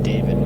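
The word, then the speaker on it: Dawid: It's spelled like David, but with instead of a V, it's a W, so it's D-A-W-I-D. David.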